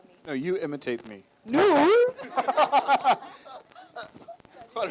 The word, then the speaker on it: नूर: Noor.